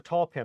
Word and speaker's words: tulpn: I just remember tall pin. I heard the one someone said it once, and I just always remember that's how it's said.